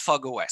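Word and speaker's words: fog05: and eclipse fog os it's written fog zero five but it's pronounced fog os so have a look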